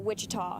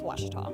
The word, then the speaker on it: Ouachita: University back in Texas everybody pronounces it Wichita but really it's Ouachita Ouachita Washington how would